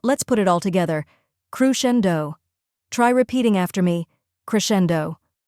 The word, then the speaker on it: crescendo: a softer uh sound next is Shen which rhymes with hen finally we have D which sounds like dough as in bread d now let's put it all together crushendo try repeating after me